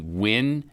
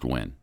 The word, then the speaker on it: Nguyen: i think it's jenny nguyen ngu y-e-n seems like that's pronounced gwen yes she was fired